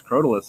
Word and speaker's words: Crotalus: oh so damn fast it sounds cooler to say crotalus but it's I mean I think their correct pronunciations crotalus and once you go through a lot of those kind of names you start realizing that a lot of them are just said kind of fast and team's always be